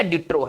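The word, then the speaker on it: de trop: देखिए ये P silent रहेगा, ठीक है ना, बस यहीं तक उच्चारण करेंगे, डी ट्रो।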